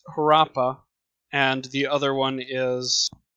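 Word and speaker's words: Harappa: the Indus River Valley her rap rap pas I probably mispronounced it's one of the major cities and this city as well I guess I'm looking at the pronunciation now this is her Appa and the other one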